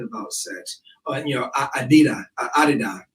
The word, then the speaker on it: Adidas: sex you know Adida Adida is the correct pronunciation but it's you know Americanized Adidas when I was growing